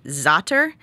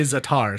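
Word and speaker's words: za'atar: people recognize the name zotter which is time in arabic that's what it translates i always say zatar so i'm always saying it wrong yes yeah zater yeah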